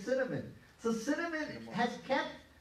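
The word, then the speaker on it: קינמון: So cinnamon has kept its closeness to the Hebrew language. It's liberty. Yeah, huh? Cinnamon. Cinnamon, but it's kinamon. And actually if you say the C, because it's pronounced with a C, right?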